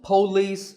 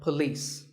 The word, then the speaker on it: police: is police this isn't police or polis it's paw and beliefs with the stress on lease so police the next word is